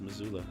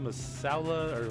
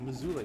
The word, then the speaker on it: Missoula: it is the way it's spelled but it's pronounced missoula i know i know lacy you've seen that